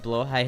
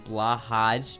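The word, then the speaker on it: Blåhaj: Blowhigh has become blahaj due to common usage of the mispronunciation common usage, like ribeye versus re-obi. Yeah, I mean, like, blowhigh is how it's pronounced, but most people who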